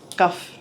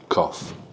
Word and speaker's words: cough: Cuff. Cough. Why you guys pronounce cough? It's Co- cough. It's just... Just relax yourself. It's a hard C. Like when you cough, it's hard, so it's cough.